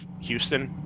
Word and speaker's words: Houston: I every time you said Humboldt, I kept wanting to call it Humble because of Houston, where the H is silent, and I kept just psyching myself out about it.